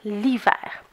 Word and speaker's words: l'hiver: Ça va donc devenir « l'hiver ». Donc, si je lis ma phrase comme il faut, ça me donne « j'adore l'hiver ».